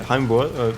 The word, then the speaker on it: Heimwärts: don't see the map name, Heimwärts, but yeah, Heimwärts, which pretty much just means homewards, like heading home, pretty Glad much.